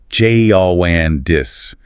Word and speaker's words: jaundice: The noun is jaundice, jaundis.